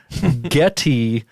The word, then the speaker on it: Geddy: the song to ask getty which is spelled like gettysburg not getting gettysburgly yeah as we know